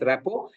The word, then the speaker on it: rapport: In the movie, the viewers respond to the performance on the screen, but the sort of rapport, we pronounce the word as rapport, letter T is silent.